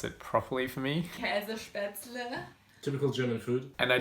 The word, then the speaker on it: Käsespätzle: I am totally butchering that pronunciation, so I'm going to let Kati pronounce it properly for me. Käsespätzle.